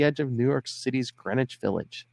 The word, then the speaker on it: Greenwich: of New York City's Greenwich Village. The W in Greenwich, by the way, is silent, kids, and it's the only thing in the area that is.